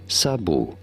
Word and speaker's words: sabot: For reference, this is a word of French origin. In French, this is said as sabu.